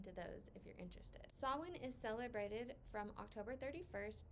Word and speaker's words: Samhain: like Sam ha and I've seen some people pronounce it Sam ha but from everything that I've read it is pronounced sawin because it is a